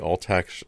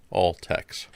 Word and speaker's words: Altex: commercial breeds are still recognized breeds again the all tax all tex rabbit is a relatively new breed